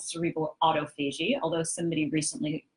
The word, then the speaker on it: autophagy: It doesn't happen when we're awake, called cerebral autophagy, although somebody recently pronounced it autophage.